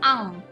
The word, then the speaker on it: un: lafalkan dengan Oh ya walaupun tulisannya usah maen tapi kita bunyikan nya am Walaupun mungkin kita bingung nih dari mana Ah gitu ya padahal tulisannya u sama n-nya Ah tapi tetap dibunyikannya Ang ya karena kalau ada huruf